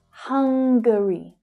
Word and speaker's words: Hungary: Notice the extra little syllable there, so it sounds different from the adjective hungry. Hungary, Hungary, Hungary.